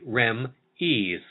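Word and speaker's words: Remee: and move it forward the spelling of the device is r.e.m e e and the exact pronunciation is not yet known at this time it is believed to be REM ease and according to the Daily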